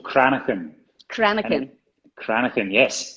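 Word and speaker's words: cranachan: well yeah that's a good question it's called chronic pain chronic pain chronic and yes it's a it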